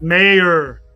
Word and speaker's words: Mayer: Everyone's talking about Meyer being gone, bro. I don't see him leaving, bro. There's no point for him to leave. Mayer. Not Meyer. Mayer.